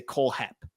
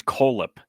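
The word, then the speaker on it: Kohlhepp: coip Tigers Cole Heap do do you pronounce I feel like if there's two h's right it's k h l h p p feel like I have to say coap I so I disagree I think it's coip okay you know I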